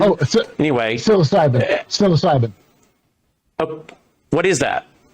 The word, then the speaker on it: psilocybin: Uh fizzilopen. P S I L O C Y B I N. Oh anyway. Psilocybin.